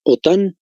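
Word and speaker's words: OTAN: tratado del Atlántico Norte en castellano se pronuncia sus siglas otá y en inglés nato esta organización es para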